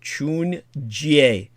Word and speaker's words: 春节: well, to give it more of the correct pronunciation, 春节, okay?